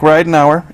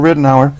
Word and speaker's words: Ridenhour: immediate right is Mike Ridenhour am i pronouncing it right yeah it's I never know it was right now or a Ridenhour that's right that's right an hour and you're a junior